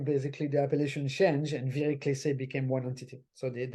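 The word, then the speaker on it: Viré-Clessé: Just to say what the third box is Vire-Clesse. Vire-Clesse? Oh, Vire-Clesse, do I pronounce it well? And Justice, yes, and from Albert Bichot, another household name in the Perfect Cellar family, I think.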